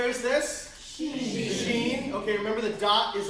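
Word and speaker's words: Shin: But this is sheen. She as in sh as in she.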